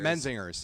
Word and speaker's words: Menzingers: Am I pronouncing it? Menzingers. Menzingers.